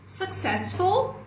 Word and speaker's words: successful: Quem que é a sílaba tônica? Ses. Vou pintar ela aqui. Ses é a sílaba tônica. Successful.